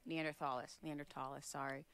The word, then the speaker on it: Neanderthal: So they're Homo sapien Neanderthalis, but they were...